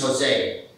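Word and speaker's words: José: My name is Jose. In the Philippines, it's pronounced the English way with an H sound at the start.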